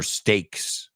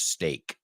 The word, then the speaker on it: steak: to mind is skirt steak this is in English look at that one but just remember we don't pronounce it Ste it's steak steak all right so kubl